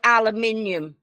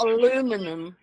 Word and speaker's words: aluminium: We say aluminium. You say Aluminium, aluminium. Or it's the island of fire. It's aluminium. It's not aluminum.